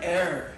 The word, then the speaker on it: ere: simpler uh the word eror e r e it's pronounced just like the stuff you breathe and um it means